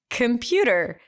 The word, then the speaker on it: computer: O and I said no I didn't computer there's an O right there and we went on and on and on and they didn't slow motion computer no now you're just exaggerating like that's how you say it anyway so sometimes